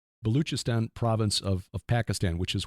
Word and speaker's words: Baluchistan: inside the Baluchistan, and I think that's how Tim said to pronounce it, the ch instead of a k. Baluchistan province of Pakistan, which